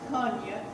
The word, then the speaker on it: Kony: Now, she eventually faded out in 1988, and her cousin or relative, Joseph Konya, that's spelled K-O-N-Y, but it's actually pronounced Konya, he took over the